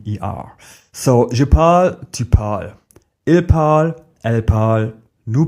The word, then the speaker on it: parles: For example, je parle, tu parles, il parle. They all sound parle. So the written form changes, but the pronunciation stays similar.